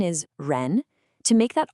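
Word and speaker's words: 人: To make that R sound correctly, you want the tip of your tongue to curl back a little bit, almost touching the roof of your mouth. Let's try it. Ren.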